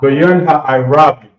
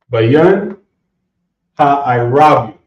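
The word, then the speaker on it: בין הערבים: So, how you pronounce Twilight again? Is it hot? Bayan Ha'irabium. Say that one more time. I can't hear it. Bayan Ha'irabium.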